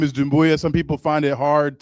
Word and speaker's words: Doumbouya: Um, I uh my last name is Dumboya. Some people find it hard to to pronounce.